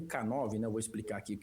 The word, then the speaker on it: K9: Então, a pronúncia de canino em inglês é a mesma pronúncia da letra K e do número 9.